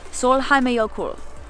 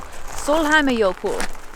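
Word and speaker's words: Sólheimajökull: So I was able to get the pronunciation to load, and it is, in fact, Solheimajokull.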